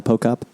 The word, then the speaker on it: Pochop: Pochop. Did I get it right? Jana Pochop? You got it right. The H is silent, everyone, when you see her name.